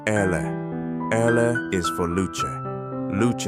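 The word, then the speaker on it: elle: L, pronounce Ele.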